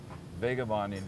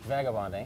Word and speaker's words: Vagabonding: Vagabonding is how I pronounce it, but other people say Vagabonding.